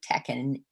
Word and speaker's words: Tachinid: So she talks about the, how do you pronounce that? It's a word I read but don't say. Tachinid fly? Tachinid flies, right.